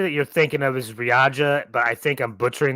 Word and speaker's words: Riyadh: I know what the city that you're thinking of is Riyadh, but I think I'm butchering that pronunciation like I butcher everything. Riyadh. It's Riyadh.